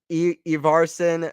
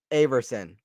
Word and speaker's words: Ivarson: It's like my last name. Ivarson, not Averson.